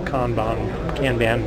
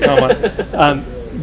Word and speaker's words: Kanban: From a Kanban, whatever the right pronunciation is. It's Kanban. Is it Kanban?